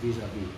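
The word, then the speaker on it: vis-à-vis: By the way that's just pronounced visav visav.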